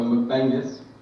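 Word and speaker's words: McBengis: Right, so it's my surname, so McBangus. Not Genghis, McBangus.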